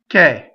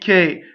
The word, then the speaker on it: che: So what happens is the word k, being a strong monosyllable, caused the next word to start, if it has a consonant, to have two consonants if it starts with a consonant, right?